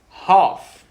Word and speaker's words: half: valley please half hof half half take it guys it is half to pronounce it half l is silent repeat one more time